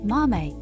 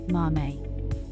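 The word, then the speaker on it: 豆: In Japanese, beans are called mame, and this kanji is pronounced mame.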